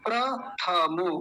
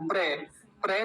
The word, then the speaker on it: प्रथम: देखिए पहले क्या है पहला शब्द प्रथम प्रथम कुछ लोग कहते प्र प्र बोलते प्र प्र नहीं होता प्र होता प्र जैसे